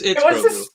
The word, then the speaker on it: Grogu: No, it's Grogu. It was established years ago how to pronounce that name.